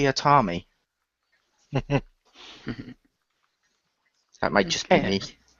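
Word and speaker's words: Teatime: world with tea time actually no it's pronounced tiami that might just be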